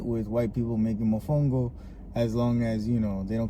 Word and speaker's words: mofongo: Don't be saying mofongo or you're adding, different vowels. No, it's mofongo.